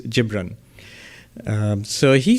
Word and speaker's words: Gibran: Um, Bajanji quotes Khalil Gibran, not Gibbran. Okay, because I looked it up yesterday. The Arabic pronunciation is Gibran.